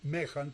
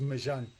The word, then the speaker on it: Méjan: Con una pequeña aclaración nada más sobre mi nombre, si bien lo pronuncias en perfecta lectura del español Mejan, porque así se escribe, la pronunciación es Mejan, por. eh, por el origen francés del apellido.